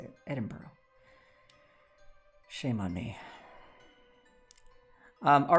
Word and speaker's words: Edinburgh: Edinburgh. That's how you say it. Edinburgh.